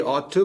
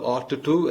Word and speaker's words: ought to: ഈ ought to പറയുമ്പോൾ അതിന്റെ ഉച്ചാരണം ആദ്യമേ ഒന്ന് ശ്രദ്ധിക്കണം കേട്ടോ. കാരണം നമ്മൾ ought to എന്ന് പറയും, ഈ ഡബ്ലിംഗ് ചെയ്യും ശബ്ദങ്ങൾ. ഇത്തരത്തിലുള്ള ഒരുപോലെയുള്ള രണ്ട് ശബ്ദങ്ങൾ മേർജ് ചെയ്ത് പോകും, ഒന്നായി പോകും. ഇപ്പൊ ought to എന്ന് പറയാൻ പാടില്ല, യു ought to, ഐ